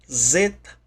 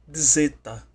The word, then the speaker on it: zeta: alfabeto grego, que é a letra zeta ou zeta, com D mudo, quase que imperceptível na pronúncia.